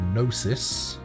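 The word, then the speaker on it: Gnosis: uh apparently the G in D G C stands for nosis you know with the silent G and the d stands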